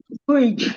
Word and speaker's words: bridge: Like when we have the word bake, letter E is silent. We have the word bridge, the letter E is silent.